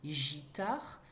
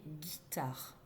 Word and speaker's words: guitare: le mot guitare, puisque si on a un G suivi d'un I, on entendrait le son J, comme dans girafe. Or, on ne veut pas prononcer gitare, mais guitare. C'est là que le U entre en jeu, puisqu'un G suivi d'un U fera le son G.